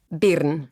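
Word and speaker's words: Birn: Will you pronounce your last name, which none of us can do properly? Bern.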